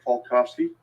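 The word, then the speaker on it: Falkofske: for the court report my name is falkovsky last name is spelled f-a-l-k-o-f-s-k-e Mr falkovsky who do you work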